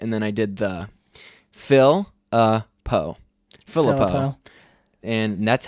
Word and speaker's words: Philippou: I put it into Google Translate, and I had it say it, and then I did the Philippou.